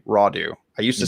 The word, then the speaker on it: Rodu: post from dr brad raudu i think i said that correctly rawdu i used to say it wrong all the time i used to say rodu i think it's rawdoo um correct me if